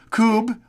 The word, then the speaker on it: Kubb: anyone play true outdoor games like cornhole Cub pronounce Scoob o Kubb that's how it's pronounced and/or others I just